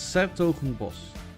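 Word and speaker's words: 's-Hertogenbosch: But it's Sertogenbos. Mm-hmm. Well, why do you put Bosch at the end if you want to pronounce it boss?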